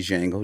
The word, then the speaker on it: Django: Pardon me, Django, the D is silent.